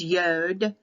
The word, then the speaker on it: yod: i sound there is no J in Hebrew none exists they added it they added the J they took the Y out and replaced it with a J that is a Catholic Roman translation so in the Hebrew translation to English it's yod yod y o d